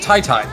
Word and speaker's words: TYTY: Also, we've been told that apparently TYTY's name is pronounced Tai Tai.